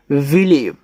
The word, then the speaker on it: believe: ठीक है, तो इनका हम उच्चारण करेंगे, जैसे BELIEVE, देखो इसको पढ़ते हैं विलेव, क्या पढ़ेंगे, विलेव।